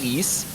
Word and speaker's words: Ys: Okay, so it's pronounced East.